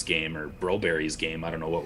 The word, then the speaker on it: Broberg: I know it's Broberry back home, but we can go Broberg because we're Anglophones that like to butcher European names around here.